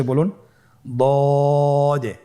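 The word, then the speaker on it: ض: দদের মধ্যে নুক্তা রয়েছে দদ হারাফটি উচ্চারণ করার সময় অবশ্যই তিন আলিফ টেনে পড়তে হবে আপনার সাথে বলুন দ আবার বলুন দ আলহামদুলিল্লাহ দদ হরফটিও মোটা হরফ মোটা করে উচ্চারণ করতে হবে দদের মাখরাজ জিহ্বার গোড়ার কিনারা সামনের উপরের দুই দাঁতের গোড়ার সঙ্গে লাগিয়ে উচ্চারিত হয় আপনারা আবার উচ্চারণ করার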